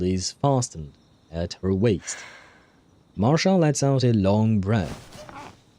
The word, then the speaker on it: Marsha: Although I suppose since she's German, I should pronounce it Marsha, right? With a bit more of a hard R instead of a soft English R, I think.